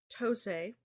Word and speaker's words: Tosei: Tosei. Mm-hmm. Is that how it's pronounced?